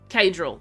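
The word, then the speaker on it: Caedrel: Is that Cedral, Kedral, Kadral? Kadral. Okay, there you go.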